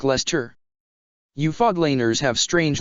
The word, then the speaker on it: Leicester: underwear ha sorry but it's not pronounced lyce Esther sir ignet said it's more like Lester you fog laners have